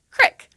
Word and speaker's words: creek: For example, instead of the long E sound, as in creek, some people in Appalachia pronounce this word as crick, with an is sound, as in the word tip.